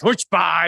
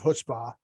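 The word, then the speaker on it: chutzpah: yes not just AG there's a c in front so it's not ch ch though we say here it's silent like like ponix the positive version version of hpah which is more likely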